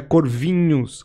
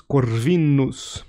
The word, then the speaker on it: Corvinus: Não é Corvinhos, Corvinus.